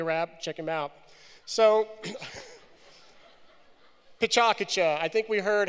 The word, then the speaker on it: PechaKucha: So, PechaKucha. I think we heard how to pronounce it earlier.